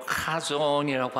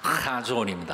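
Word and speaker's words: חזון: 잠언 29장 18절에 나오는 묵시라고 하는 단어는 히브리어로 카존이라고 합니다. 발음이 이상해서 미안해요. 거기는 이 목소리에서부터 나오는 가래침 뱉는 소리가 나오는 것이라 하존입니다.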